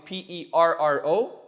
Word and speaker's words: perro: actually it's so uh double r's are possible in spanish but they change the pronunciation so dog is p-e-r-r-o it's easy remember because the dog's always growling so double rs so perro perro pero and if